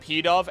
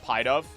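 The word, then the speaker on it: Pidove: Didn't know it was pronounced P-Dove and not Pie-Dove.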